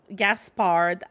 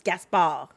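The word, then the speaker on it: Gaspard: on the throne also Gaspar it it it it doesn't fit well in French it's gasa you don't say yet uh but we're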